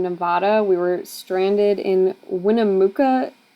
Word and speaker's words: Winnemucca: we were stranded in Winnemucca Nevada I think that's how you say it um it was just